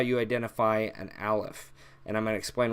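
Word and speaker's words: ألف: just like this so Aleph is pretty simple it's only connecting to the right it makes an a sound so it's pretty easy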